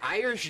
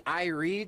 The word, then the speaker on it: Irie: But something very funny that I've just found out, we've been calling her Irish Jones for about a couple years now, I'd say. It's actually Irie Jones.